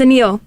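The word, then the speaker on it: Anil: this person clap forever but it's spelled a-n-i-l but it's a Neil interesting I feel like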